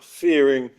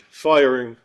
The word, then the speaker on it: Firing: Our next speaker is Fearing. She says you can also pronounce it firing.